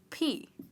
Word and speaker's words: p: could say 50 P you'd pronounce it as ‘PEE’ not the other pee but this P.